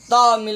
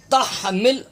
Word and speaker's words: تحمل: زبر تح، تامل نہیں، یہاں بھی لوگ غلط تلفظ پڑھتے ہیں، یہ دائرہ دیکھ رہے ہیں آپ، اس کے اندر ہا ہے، یہ نشاندہی کی گئی، یہ غلطی کی ہے، ہا تا ہا زبر تح، تحمل تحمل، علینا عین زبر ع،